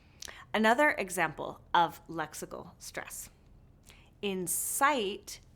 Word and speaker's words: incite: Another example of lexical stress: inCITE vs. INsight These words are phonetically the same but have different meanings. How can we tell the difference? By the way stress is placed within the two words.